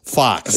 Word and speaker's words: Fuchs: It's spelled F-U-C-H-S. The way they were pronouncing it in this movie does not lend itself to an American dialect. No. It's basically fucks. Yeah. It's Fuchs. Fox. Yeah. I kept saying Fox.